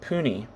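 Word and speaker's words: puisne: Council and lesser or p-u-i-s-n-e priest pronounced puni okay it says they're here judges I don't know if that's puny peony judges were also institutions of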